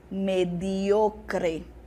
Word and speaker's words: mediocre: Em português, eu tenho medíocre. Medíocre. No espanhol, é mediocre. Então, a pessoa é mediocre. A sílaba tônica mudou, perceberam?